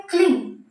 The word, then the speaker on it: क्लीं: जब कोई नर्तन स्थिति में अपने पैर को एक बार मारते हैं भूमि में, तो उच्चारण होता है क्लिंग शब्द का।